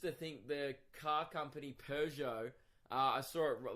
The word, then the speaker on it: Peugeot: this driving a Pew got silent G everyone silent G silent T you